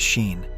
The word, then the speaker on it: Sean: young travelers, Tez and Sean, pronounced as Sheen, and an introverted man named C.